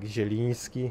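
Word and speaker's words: Jeliński: n yeah you got just also the line above the N it's like jelinski it's like more like soft end in Polish ah okay it's not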